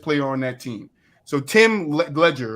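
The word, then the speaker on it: Tim Legler: So Tim Ledger, right? That's how you say his name, Tim Ledger.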